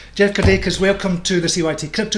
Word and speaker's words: Kirdeikis: Jeff Kirdeikis, am I pronouncing that correctly? Kirdeikis? You're nailing it. I've got it. Excellent, excellent. Yeah. I like to get people's names right. Jeff Kirdeikis, welcome to the CYT Crypto Show.